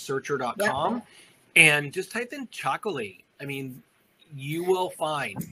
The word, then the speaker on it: Txakoli: and just type in chocolate I mean you will find and it's spelled t-x-a-k-o-l-i exactly and that's the Basque language where T's and X's live next to each other on a regular basis so I think this